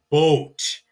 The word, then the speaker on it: Boot: So even though a boat is pronounced the same, das Boot and the boat, it has two O's in German. So it is boat, not boot.